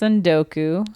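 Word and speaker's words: tsundoku: It's pronounced Sundoku. Okay. Sounds like Sudoku.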